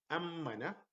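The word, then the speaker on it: أَمَّنَ: Here, ammana, like two syllables. Ammana, as if I am having two M's, but in reality I have one, but the stress on the shadda makes it like two M's.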